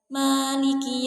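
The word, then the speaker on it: مَلِكِ: Baik, yang pertama itu pada ayat Maliki Yaumiddin, itu dibaca memnya itu dibaca pendek seperti ini.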